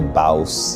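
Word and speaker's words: Bawse: So your book, How to Be a Bouse. Yeah, nailed the pronunciation.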